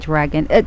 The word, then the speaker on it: Dragan: I like the way how to pronounce your name, Chaga Dragan.